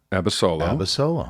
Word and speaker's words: Abasolo: She got the Bachelorette, and then she ended up picking this guy, Bryan Abasolo, right?